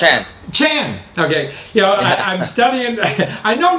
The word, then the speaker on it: Chan: How do you pronounce it? Chan.